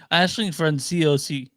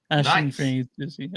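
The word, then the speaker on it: Aisling Franciosi: Ashling Franciosi. Ashling Franciosi.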